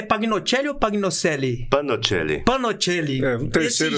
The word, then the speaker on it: Pagnoncelli: Panocelli. Panocelli. Um terceiro... Esse G aqui me confundiu, pessoal. Ele é mudo.